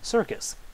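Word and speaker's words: SRCIS: Sr CIS which can be pronounced circus so very simple very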